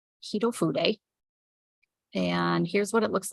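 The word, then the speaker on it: Hitofude: A lot of people don't know that's how you pronounce it. Hito Fude.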